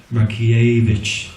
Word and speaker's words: Markievicz: countess Markievicz or give her a proper title rocky a I believe is the correct pronunciation but many more and the weapon deaths